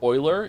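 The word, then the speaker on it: Eule: okay cool all right Ule isn't pronounced Ule it's Oiler it's German for owl AA owl a owl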